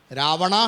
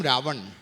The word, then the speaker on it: रावण: Ravana has become Ravan. It's not Ravana, it's Ravana.